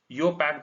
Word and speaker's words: IUPAC: आईयूपैक के लिए खास बात हम आपको बता दे रहे हैं, इसको आप कैसे प्रोनाउंस कर सकते हैं? इसको योपैक भी आप प्रोनाउंस कर सकते हैं, योपैक, है ना, काइंड ऑफ।